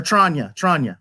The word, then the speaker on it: Tranya: Or Tranya. That's how you pronounce it.